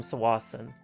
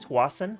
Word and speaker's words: Tsawwassen: Horseshoe Bay, or you drive onto it from Tsawwassen, and if you go to Tsawwassen, you got to take a highway marked as Highway 17.